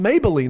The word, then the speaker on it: Mablean: really spelled like maybelline mabling mabling but it's pronounced maybelline they throw that extra syllable in there and she's a different